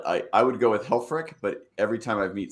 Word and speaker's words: Helfrich: you nail it i i would go with helfrick but every time i meet somebody new it's a new different pronunciation so whatever you're most comfortable with is